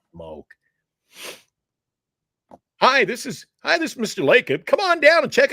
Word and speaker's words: Lacob: Lacob. Lacob.